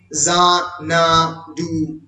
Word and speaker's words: Xanadu: If you pronounce the word Xanadu, it actually begins with the word Zek, Za-na-du. শুরু হচ্ছে যা দিয়ে, যখন এই যা উচ্চারণ করছো, Z is actually the last letter of the English alphabet.